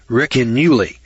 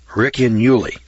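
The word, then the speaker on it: Ricinulei: It's called the Riccinuli. It's spelled R-I-C-I-N-U-L-E-I. Riccinuli. That's the way I'm pronouncing it.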